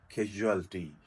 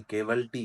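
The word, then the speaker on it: casualty: न लीस्ट ज कलटी कैजुअल्टी यह जो हम केवल टी कहते हैं ना शबा हाद साथ ट् नट केवल टी इट कैजुअल टी इस मैं आपको वाक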